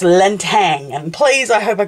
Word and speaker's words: Lintang: I've been saying Latine, so I've been missing out that Lan, and I've been saying the last bit wrong, so it's Lintang.